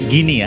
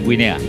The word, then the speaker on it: Guinea: depan mata Indonesia melawan bacanya gini ya bukan Guinea Indonesia melawan gini ini